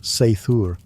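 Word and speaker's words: seiðr: Sometimes it relied on magic, specifically a mysterious practice called cider, pronounced sethur, which was part sorcery, part spiritual therapy, and part my ex won't return my runes.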